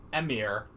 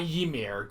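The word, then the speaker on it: Emhyr: Wait, Emir. Not Ymir. Ymir is Attack on Titan. Emir, specifically.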